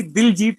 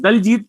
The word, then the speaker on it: दिलजीत: जी, actual मेरा नाम ही दिलजीत है, जो दोसांझ, दिलजीत दोसांझ या दिलजीत कह लीजिए। जी जी तो एक जी। ही है कि नॉर्मली लोग दलजीत प्रोनाउंस करते हैं, बट दैट इज दिलजीत।